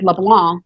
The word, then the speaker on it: LeBlanc: or New Orleans well my last name is LeBlanc and I say it French and no one that everyone wants to put that c on there where you hear the pronunciation of it but it just goes away like a lot of French words you know the last three letters just kind of go off to have a party by the time I used